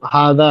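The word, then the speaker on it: هذا: এইযে জিহবার আগালটা এই জিহবার আগালটা উপরের পাটির দাঁতের সাথে এই জায়গাতে লেগে ঠিক এই জায়গাটা থেকে উচ্চারণ হবে।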